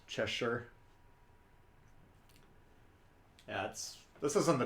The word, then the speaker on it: Cheshire: a win we'll check back lava number it's pronounced cheshire that's this is on the channel to come